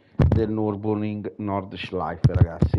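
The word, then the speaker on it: Nürburgring: un secondo così mi faccio sentire esattamente la pronuncia del nurburgring nord ciclo ai ragazzi è no ma io devo vedere quali comandato io che stupido e norcia life ok nurburgring e nord laico nella pronuncia perfetta quindi minuto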